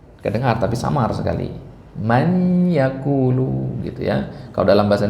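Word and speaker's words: مَن يَقُولُ: Ya, semisal pada ayat wa minan nasi man yaqulu. Nah, di situ dibacanya apa? Ya, idgham enggak di sini? Man yaqulu atau may yaqulu? May yaqulu.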